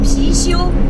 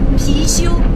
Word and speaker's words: Pixiu: And we call that Pixiu, Pixiu, P-I-X-I-U.